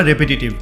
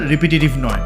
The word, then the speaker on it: repetitive: রেপিটিশাস বা রেপিটিটিভ ওয়ার্ডটা কিন্তু এসেছে রিপিট থেকে, সঠিক উচ্চারণ হচ্ছে রেপিটিশাস বা রেপিটিটিভ, রিপিটিশাস নয় বা রিপিটিটিভ নয়।